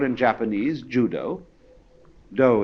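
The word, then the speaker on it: dō: called in Japanese Judo do is the Japanese way of pronouncing da The Gentle Way and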